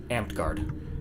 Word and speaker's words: Amtgard: Amped Guard.